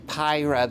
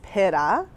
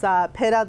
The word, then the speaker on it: pyra: We've been saying Pyra, the Polish potato, but that's not correct. So the right way is pyra, but of course we don't expect everyone to know that. So it's pyra, the Polish potato, and pyra is slang for potato in Poland.